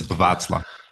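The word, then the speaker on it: Václav: Yeah, I knew that you can't pronounce it. It's Vaclav.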